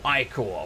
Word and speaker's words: ichor: 4 gold, an iron axe of shock, and 2 ichor. Or ichor, which is apparently how you say it.